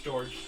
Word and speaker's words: George: Is that pronounced Jorge? No, it's George.